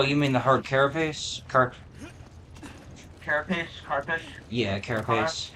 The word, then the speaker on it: carapace: Carapace? Carpish? Yeah, carapace. Carapace? Carapace. I think it's pronounced carapace.